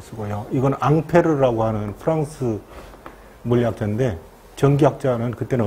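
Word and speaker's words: Ampère: 암페어라고 하는데 영국식 발음, 미국식 발음이 암페어여고요. 원래 프랑스 지들 말대로 보면 앙페르예요. 앙페르. 앙페르라고도 하고 암페라고 하는데 보통 미국식 발음을 쓰죠.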